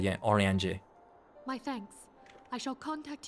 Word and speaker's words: Uriange: Oriange. Kind of French in pronunciation. Oriange. Uriange. I think that works too, but yeah, Oriange.